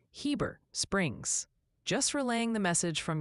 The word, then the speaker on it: Heber Springs: Seems the overwhelming verdict for Heber Springs, Arkansas is definitively Heber Springs.